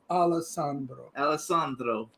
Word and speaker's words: Alessandro: Say it right, Alessandro.